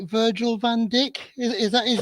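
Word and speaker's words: Virgil van Dijk: most people can say but I can never pronounce it right Virgil vanck is that his name yes it is you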